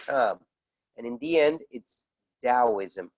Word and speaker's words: Taoism: and in the end its Taoism although it's written with a T as in Tom this book is amazing